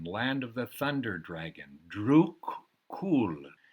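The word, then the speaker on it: Druk Yul: of the thunder dragon Drew cool is how the bhutanese pronounce it land of druke dragon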